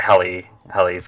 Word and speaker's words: Halley: Yeah, Halley's Comet. That's not. You said Halley's. I said Halley's. Yeah, it's pronounced Halley.